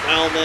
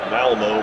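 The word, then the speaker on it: Malmö: I've been pronouncing this Malmo my whole life. Someone's informed me that the umlaut, I think is what it's called, over the O, makes it pronounced more like Malmo instead of Malmo.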